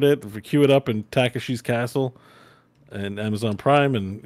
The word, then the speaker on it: Takeshi: It's like Take She apostrophe S. Everybody who's trying to spell it TAKESHI. Yeah. Yeah, but it's Takeshi.